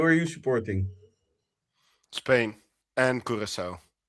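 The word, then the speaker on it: Curaçao: How do you pronounce it? Kurissau.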